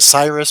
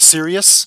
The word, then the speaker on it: Sirius: Sirius, yes, yeah, Sirius or Cyrus, yes, I think some pronounce it Cyrus, but Sirius.